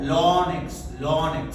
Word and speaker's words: ln: This is sometimes also called ln x ln pronunciation lx. Lonx natural log.